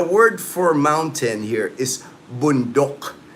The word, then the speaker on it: bundok: The word for mountain here is bundok. B O N D O K. Bundok. That's how it's pronounced here.